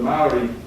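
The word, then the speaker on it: Māori: And it goes for a whole week, because the Maori, that's how it's pronounced, celebrate the fact that they come from the Pleiades.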